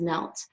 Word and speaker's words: knelt: tense for that is knelt. And that Kate is silent. What a tricky little word.